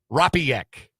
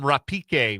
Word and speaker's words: Rapiek: That is how you pronounce it. We were calling him Rapike. We were looking at the letters in the wrong grouping. It is Rapiek. Elias Rapiek. Yeah, I was thinking French for the pronunciation. He's obviously not French.